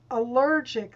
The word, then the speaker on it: allergic: not always the case allergic that's the second syllable that's the second syllable